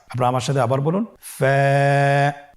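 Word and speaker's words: ف: ফা হরফটি আপনারা স্ক্রিনে দেখতে পাচ্ছেন ফা হরফটি উচ্চারণের ক্ষেত্রে বারিক হবে এবং এক আলিফ টেনে পড়তে হবে আপনারা আমার সাথে আবার বলুন ফা স্ক্রিনে দেখতে পাচ্ছেন ফায়ের মাখরাজ ফা এর মাখরাজ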